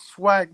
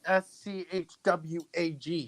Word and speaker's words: Swag: It's your name is Swag, not SCHWAG. Swag.